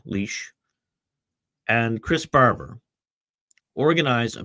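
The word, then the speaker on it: Lich: In 2022, Tamara Lynch or I pronounced your name wrong. Leash and Chris Barber organized a peaceful protest in Ottawa against the plague mandates.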